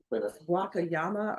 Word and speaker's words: Wakayama: Oh, the name of that place is Wak- Wakayama or Wamayats- uh Uh gosh, there's so many cities that are so close to that.